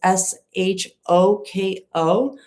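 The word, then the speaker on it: Shôko: at a beachfront nightclub called, and I don't know how to pronounce it, Shoko. It's Shoko.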